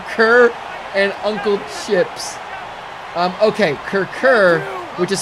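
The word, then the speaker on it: Kurkure: learn about Kirk Kirk and uncle ships okay Kirk er which is spelled ke you are ke ure is in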